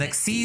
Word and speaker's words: Xyz: per turn if an xc is monster because that's how you pronounce xyz it's xc's if the next seas